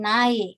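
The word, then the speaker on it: 나의: Contohnya kalau saya yang na gitu ya, na milik saya gitu, jadi na dia dibacanya bukan na tapi jadi nae, seperti itu.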